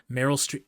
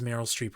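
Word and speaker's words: Meryl Streep: Merryill Street. It is Merryill Streep, right? It is. Please tell me I got that right.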